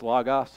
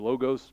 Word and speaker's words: logos: times that's used as lagos or logos depending on how you pronounce it but it's a